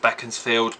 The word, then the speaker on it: Beaconsfield: I know the seat is pronounced Beckensfield, but it doesn't look like it should be.